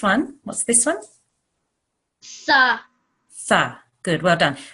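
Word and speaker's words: ث: Tha. Good. Well done. Really soft TH sound. Tha. Sa. Tha. Sa. Tha. Imagine you're saying the word thing, where you have a very soft TH sound at the beginning.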